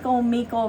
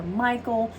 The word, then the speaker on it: Michael: name, you can say, people can pronounce it in many ways, you know. You can say Micheal, that's kind of the old school way, or Michael. He said it doesn't matter, it's the intention, and